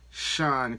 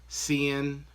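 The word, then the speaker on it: Seun: I call this guy Sean Kuti, but I think you pronounce his first name like Cian, something like that. Cian. But I'm gonna call him Sean just because I'm not 100% familiar with how you actually pronounce it.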